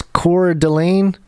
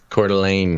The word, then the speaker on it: Coeur d'Alene: do you say this core Delane Coeur d'Alene Coeur d'Alene sounds like one word Coeur d'Alene contact Josiah